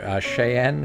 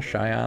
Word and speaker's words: Cheyenne: Madison Wyoming I can never pronounce it but shayen cheyen and how do you pronounce that cheyen Cheyenne thank you say Baton Rouge again Baton Rouge